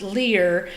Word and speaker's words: Lire: Or it's actually pronounced Lire, and it means read in French.